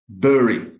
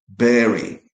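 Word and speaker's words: bury: I don't really know why, but the only correct pronunciation of this word in British English, American English, Canadian English, um, Australian English is berry.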